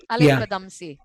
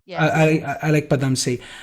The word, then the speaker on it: Alyque Padamsee: And how do you pronounce it? Alyque Padamsee? Alyque Padamsee. Alyque Padamsee.